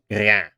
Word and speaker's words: rien: You might notice that I distinctly pronounce the r the same way as in Italian. That is because at this point in time, French still had the hard R.